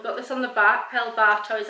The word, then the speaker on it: El Barto: El Bartow is how it's pronounced.